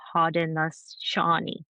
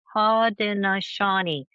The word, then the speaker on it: Haudenosaunee: And I had mentioned the Haudenosaunee. Haudenosaunee. I had to Google how to pronounce it.